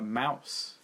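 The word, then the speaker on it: Maus: and it was a mouse all right yeah yeah yeah it's spelled weird but it's just pronounced Mouse yeah that was the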